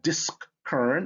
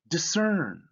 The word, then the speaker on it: discern: words have in common in words derived from latin the blend sc makes the s the s sound right the sound that the the symbol stands for so i have that discern but discern at sc gives me that s so it's not disc current it's discern discipline again that sc